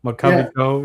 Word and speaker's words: McCovey Cove: You have the opportunity to go hit balls in the McCovey Cove. I'm probably pronouncing that wrong. No, you're right now. McCovey Cove, yeah.